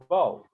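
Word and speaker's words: בוֹ: you'll learn this later it's going to be pronounced bo the letter b and the sound oh bo there's another one letter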